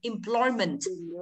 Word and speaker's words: employment: Employment. Bởi vì im là tiếp đầu các bạn nhé, thì trọng âm rơi âm tiết thứ hai mà, đúng không?